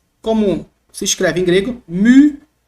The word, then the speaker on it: mu: se escreve em grego, mu. Não é mi, tá, gente? É um som. Também é muito difícil reproduzir isso aqui numa frase, assim, fazendo uma leitura rápida. Mas devagarzinho nós temos mu, mu, mu.